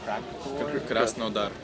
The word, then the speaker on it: Krasnodar: Petersburg and Moscow, and this time we have a 3rd show, which I really don't know how to pronounce it. Krasnodar.